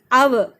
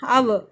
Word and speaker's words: hour: We pronounce as hour. Okay, hour.